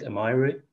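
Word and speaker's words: 甘え: So that's I don't know how you pronounce them, Amai and Amairu?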